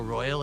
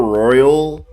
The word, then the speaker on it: royale: He's like pronouncing the word wrong. Battle Royale. Isn't it like royale? That's how that word's pronounced.